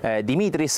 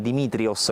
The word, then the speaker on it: Dimitris: il protagonista è stato Dimitris Nicolaou. A fine della conferenza stampa ci ha confermato che la pronuncia giusta è appunto Dimitris e non Dimitrios, come si è letto